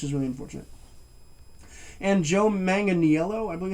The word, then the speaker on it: Manganiello: And Joe Manganiello, I believe it's pronounced, as Full Metal Mickey.